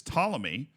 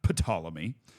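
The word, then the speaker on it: Ptolemy: died the toic dynasty because tmy starts with a P silent P I guess not pamy um the talic Dynasty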